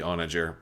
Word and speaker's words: Onager: know some of you I think the correct pronunciation is with like a hard G sound but I gotta go with like the soft J sound for oranger because it just sounds right to me so I apologize if